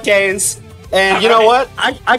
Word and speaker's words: Kaze: It is officially Kaze. I didn't want to say it wrong. It is officially Kaze, but I like to call it Kaze.